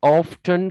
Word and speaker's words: often: ඒ වගේම ඔක නිවැරදි උච්චාරණයේ විදියට තමයි ඔක නිවැරදිම උච්චාරණයේ විදියට අපි ගන්නෙ often t අකුර කියවන්න නැතුව.